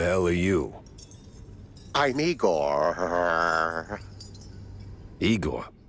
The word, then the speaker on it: Igor: Igor, not Igor? No, Igor. Why so many R's? It's harder to pronounce, as the classics would say.